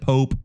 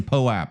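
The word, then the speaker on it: POAP: heard people pronounce it pope it's not a pope it's a poe app all right it's the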